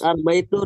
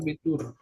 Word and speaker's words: Abitur: Astagfirullah, Dulu, saya bacanya Arbeit. Itu Schüler. Das Abitur. Abitur.